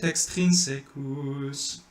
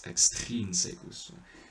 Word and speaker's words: extrinsecus: You don't want to do et extrinsecus. You don't want to do et extrinsecus, because then you're putting the accent on the secus, but it's extrinsecus.